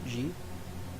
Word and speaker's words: xe: "Zhe"? Jordanix1871: Really? I used to pronouce it like a zed I think it's like the soft zed As in "measure" Jordanix1871: Man, I am